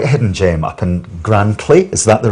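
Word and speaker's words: Grantully: Julie, you're quite a hidden gem up in Grantley, is that the right pronunciation? Yes, that's the right Grantley yes.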